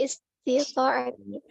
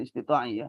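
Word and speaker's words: استطاعة: wajtinabi nawahihi ala qadri istita'ati. Qala ta'ala ala qadri istita'ati. Pelan-pelan bacanya. Ala qadri istita'atihi. Qala ta'ala qul ati'ullaha war rasula fa in Sebentar. Ainnya salah harakatnya. Istita'a ya, bukan istita'i ya.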